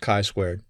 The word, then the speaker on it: chi-squared: like it's g squared but it's not it's pronounced chi-squared and i'm sure i'll mess that up throughout the course pearson's chi-squared statistical hypothesis test is an example of a